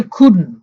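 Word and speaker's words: couldn't: হি খুডন, উচ্চারণটা হচ্ছে খুডন।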